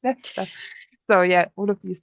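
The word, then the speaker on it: Leicester: And yeah, I always I think I always said L sister until my um fiance was like it's not L sister, it's Lester.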